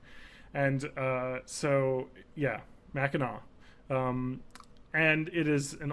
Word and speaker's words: Mackinac: and they were wrong and uh so yeah Mackinaw um and it is an old timey Island